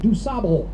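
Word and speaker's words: DuSable: roads but of course we pronounce his name with a flat Midwestern accent that we say doab now coming up on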